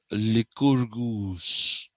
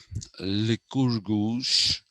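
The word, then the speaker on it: Lycurgus: created by the the pronunciation of that name is liquor goose okay liquor goose that is how it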